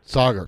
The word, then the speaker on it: Saagar: i pronouncing your name correctly it's uh it's pronounced sagar sagar thanks for helping me out with that all